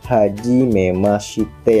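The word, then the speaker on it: はじめまして: Hajimemashite bertuliskan hajimemashite ya guys ya di situ, tapi dalam pelafalannya dalam logat bahasa Jepang adalah hajimemashite. Shin-nya tidak terlalu tebal.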